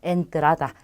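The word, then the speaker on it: entrada: 자, 두 번째 단어는 엔트라다라고 합니다. 자, 엔트라다도 가장 처음에 왔기 때문에 에로 발음이 되고요. 엔트라다는 뜻이 여러 개가 있어요. 우선 입장권을 뜻하기도 하고요. 입구를 뜻하기도 합니다. 그래서 엔트라다, 에로 발음하시면 돼요.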